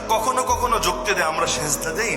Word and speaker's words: সাজদা: অর্থ নাই অবশ্যই আছে সেজদা শব্দের অর্থই হলো জাভাতি আলাল আর্থ মাটির উপর কপাল রাখা আরবিতে বলে সাজদা যেটা আমরা বিকৃত উচ্চারণে বলি সেজদা আরবির মূল শব্দ সাজদা ওই সাজদা অর্থই হলো